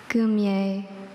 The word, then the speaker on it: goumier: Goumier. G-O-U-M-I-E-R.